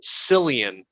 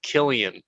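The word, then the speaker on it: Cillian: a lot of people i've heard multiple people pronounce his name as sillian murphy not killian murphy so when my wife heard me say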